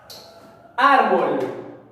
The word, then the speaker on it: árbol: Árbol. Árbol. Árbol es grave. Veamos. Árbol. A ver. Última, penúltima. Sí, está en la penúltima sílaba la mayor fuerza de voz, ¿no es cierto?